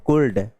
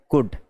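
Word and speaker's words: could: इट्स नॉट ए कुल्ड, it's pronunciation is ए कुड। Right, क्या है इसका pronunciation? कुड है, कुल्ड नहीं है।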